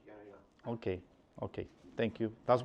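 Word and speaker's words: Jehne: It's spelled Jenny, but it's pronounced Yana.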